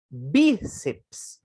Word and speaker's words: bíceps: Bíceps, ó, não separa o PS, hein? É bíceps, é uma dissílaba.